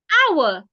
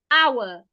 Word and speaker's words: hour: Hour. The H is silent. Hour.